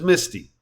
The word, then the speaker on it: Miss T: Tierney, picked up the moniker Miss T, which we all pronounced as Misty.